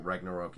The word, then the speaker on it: Ragnarok: Thor Ragnarok? Is that how you say it? Yeah, this is how you say it. So, for anyone who knows Norse mythology at all, Ragnarok is the end of the world, and then